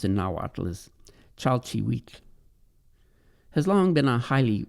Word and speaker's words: chalchihuitl: Now, the term jade, pronounced in Nahuatl as chalchihuitl, has long been a highly valued mineral in Mexico.